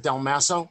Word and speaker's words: Del Maso: would be for um you pronounce it del maso is is that correct yes yes sir i'm sorry